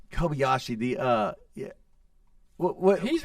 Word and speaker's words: Kobayashi: it's last name is UI Kobayashi yeah it's Kobayashi I was right yeah yeah so Jesus high probability we butchered that thing all the way through I